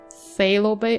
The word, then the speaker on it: Phthalo Bay: is known as the phthalo bay phthalo bay I totally thought that would be called phalo Bay phthalo Bay pH is silent the large Inlet is